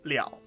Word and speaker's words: 了: order followed by that character that's when it's pronounced leo and obviously we always teach the most common